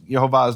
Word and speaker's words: Yehovah: Now, I'm not saying this proves Yehovah's name is Yehovah. That is the pronunciation.